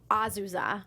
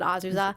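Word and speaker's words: Azusa: characters uh Marie Justin azuza is like how they pronounced it right yeah it was like Aza but azuza what do think about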